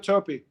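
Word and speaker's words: Toppi: Yeah, Sergio Topi.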